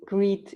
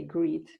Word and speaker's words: Griet: i'm my name is you can say greed if that's easier for english speaking people might be easier to say greed because the flemish pronunciation is is somehow difficult so i'm i'm belgian